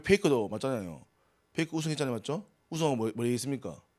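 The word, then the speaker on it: Faker: 우리 왜 페이커도 맞잖아요.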